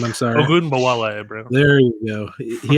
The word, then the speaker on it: Ogunbowale: Dare O, I can't pronounce his name. I'm sorry. Ogunbowale, bro.